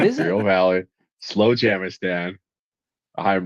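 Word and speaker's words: Slowjamastan: in Southern California right now, and it's called Slow Jamistan, and it's real, and I love everything about it. It's What in is it? Imperial Valley, Slow Jamistan.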